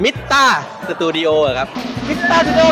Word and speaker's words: MITTA: ชื่อ บริษัท ผม นะ ครับ อ่าน ว่า เอ่อ มิตรา ขอ อีก ที ขอ แน่น ๆ เน้น ๆ